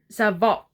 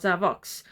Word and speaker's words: Savok: He's a Savok, not Savox.